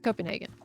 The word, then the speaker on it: Copenhagen: Okay, this is Copenhagen. That's how it's said in English.